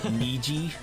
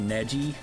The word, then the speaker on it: Neji: I pronounced it Niji instead of Neji.